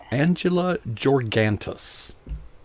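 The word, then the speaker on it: Angela Georgantas: an undisclosed location, is AngelaGeorgantas. There. Did I pronounce Angela correctly? Yes, you sure did. Well, and Georgantas too.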